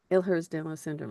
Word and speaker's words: Ehlers-Danlos: here yep okay and it talks about the Ellers down low syndrome am I pronouncing that correctly ERS elhers danow syndrome yep ERS danow syndrome okay and it gives you all of that